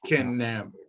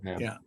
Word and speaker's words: Knabb: It's Knabb is the Dutch version of Knabe.